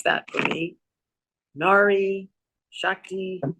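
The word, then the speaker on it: नारी शक्ति: You could pronounce that for me. Nari Shakti. Nari Shakti.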